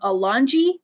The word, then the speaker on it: Alongi: My pen name is CM Alongi. That's a hard G, not a soft G.